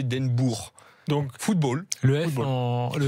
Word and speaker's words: Den Boer: Foot et le O-E, c'est, vous vous souvenez Den Boer qui a joué au Girondins de Bordeaux. C'était pas Den Boer, c'était Den Boer.